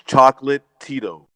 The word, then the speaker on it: Chocolatito: It's Chocolatito.